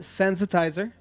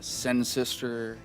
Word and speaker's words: Sensitiser: our studio today we're in the studio with sensitizer hello guys hello Jim it's a pleasure to